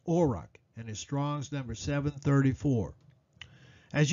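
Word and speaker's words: אֹרַח: the Hebrew word for path used here is pronounced auric and as Strong's numbering as you can see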